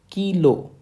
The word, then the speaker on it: Kilo: a letter K and in phonetics its spelling is k e y okay you have to emphasize on key and then l o h is the remaining part of the phonetic spelling so the letter K is pronounced or spoken in phonetics as kilo kilo kilo okay friends